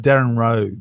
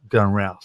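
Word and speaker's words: Darren Rowse: I think is it Darren Rowe, the Australian blogger. Yeah. Darren Rouse. Darren Rouse, rhymes with Rouse.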